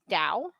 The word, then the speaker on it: Tao: uh tao jones um that's spelled t-a-o not d-o-w so i guess that's pronounced dao yeah they make that